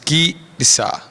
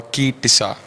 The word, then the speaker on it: Ki Tisa: The name of this week's Torah portion is Ki Tisa. அந்த எபிரேய எழுத்துக்களை நாங்கள் உங்களுக்காக உச்சரிக்கிறோம். We're going to spell the Hebrew letters for Ki Tisa.